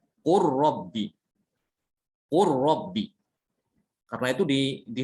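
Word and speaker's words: قل رب: Tidak ada yang membaca idhar, tidak ada yang membacanya qul rabbi, tidak ada ya. Semua dibaca idgham. Qur rabbi.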